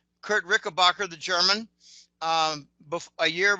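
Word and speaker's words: Richebächer: Um, I've actually met Kurt Rickabbacher, which is actually pronounced Rishbasher. Kurt Rickbacher, the German um a year before I started the newsletter.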